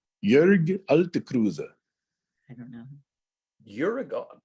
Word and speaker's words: Jörg: Jörg, J-O-E. We make an umlaut, Ö, out of it.